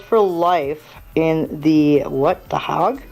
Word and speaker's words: The Hague: The Hague? The Hague. The Hague? The Hague. Hague. The Hague. I've heard it pronounced both ways, so.